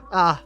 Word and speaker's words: ha: Now we go to the other vowel. A. Ah. H-A, all by itself, H-A, means she has, it has, he has, you form will have.